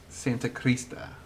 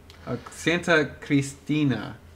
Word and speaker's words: Santa Cristina: Santa Crista. Santa Cristina. Jeez, I'm pronouncing it wrong for like a long time.